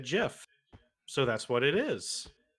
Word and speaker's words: GIF: if you like graphic no graphic is a hard g but the creator did not use the hard g from graphic to create the name he said jiff so that's what it